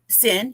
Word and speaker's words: Cyn: sin to the show hello hello am I pronouncing that correct sin yes okay I just wanted to make sure